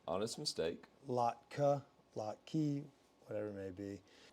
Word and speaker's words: latke: Oh yeah, you got eviscerated for the latke. So what'd you call it originally? I think I said latke. No. So, anyways, to right the wrong, I now know the pronunciation. Latka.